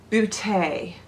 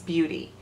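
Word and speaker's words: Beauté: a company called Ace Beaute. I think that's how you say it instead of Ace Beauty, because there's a T-E, an accent.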